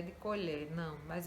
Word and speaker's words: colher: Não é que a palavra colher tem acento circunflexo, é só para você, para sinalizar, para você entender que a pronúncia desse é fechado, né? Então, colher, o som é fechado.